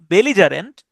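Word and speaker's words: belligerent: ওকে বেললিজারে এটার উচ্চারণটা হচ্ছে বেলিজারেন্ট। সাধারণত ইংরেজিতে ডাবল সি বা ডাবল টি ওগুলার উচ্চারণ আসলে হয় না। এগুলা সিঙ্গেল ওয়ার্ডেরই উচ্চারণ হয়। যেমন ধরেন কমিটমেন্ট এখানে তো কয়েকটা ডাবল লেটার আছে। কিন্তু আমরা এরকম বলি না যে কমিট কমিট কমিটমেন্ট এরকম উচ্চারণ আসলে করি না।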